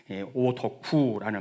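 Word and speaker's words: 오덕후: 이게 일본은 오타쿠에서 온 말인데 이것을 한국어로 발음할 때 오더쿠라는 말이 되거든요.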